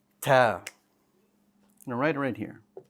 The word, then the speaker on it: ت: But unlike ba, ta does have air. So it has air when you pronounce it. The air for the ta is very important because this is where many common mistakes occur in pronouncing the letter ta in Arabic. If you withhold the air, it will sound like ta, ta. And that is not proper Arabic.